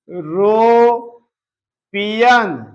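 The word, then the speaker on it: European: जो कि गलत है जब हम इसको लिखेंगे यू यरो पियन यूरोपियन आप देख रहे हैं या आ रहा है या क्या है कंसोनेंट है इसलिए जो है इसके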